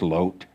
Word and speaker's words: Lot: that we're leading they're they're using Hebrew so it's loot but I don't want to confuse Myself by pronouncing something different than I'm used to pronouncing it so I'm going to call him lot lot the these same